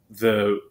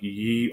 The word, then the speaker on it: ye: the country store that the y was supposed to represent the th sound um and it did